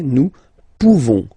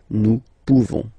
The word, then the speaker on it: pouvons: And then nous, so classic ending for nous, this ONS ending for nous, okay? Nous pouvons, okay? You don't pronounce the final S. Nous pouvons.